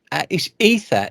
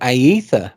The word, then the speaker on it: Aether: The EP is Ether. Is it Ether or Aether? Because the way it's It's spelled. ether. Yeah, it's a Yeah, silent A.